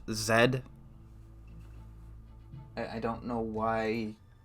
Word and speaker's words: Z: good letter although I think the game is pronounced Zed I don't know why it's pronounced as ed